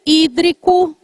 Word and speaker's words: hídrico: Elemento hídrico com H. Elemento hídrico com H. E tem acento que é proparoxítona.